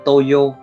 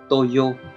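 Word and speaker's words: 東洋: Cách đọc của nó là toyo, toyo.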